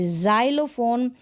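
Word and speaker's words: xylophone: शुरू में अगर एक्स आता है तब हम इसको ज प्रोनाउंस करते हैं, जैसे कि जाइलोफोन, जेनोफोबिया और जाइलोफोन।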